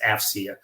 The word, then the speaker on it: AFCEA: we go by our acronym afcea and it's pronounced afia um we bring together government industry and Academia